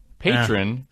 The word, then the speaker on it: Patreon: that love the show quick pronunciation tip patron is equal to patreon nos yeah now see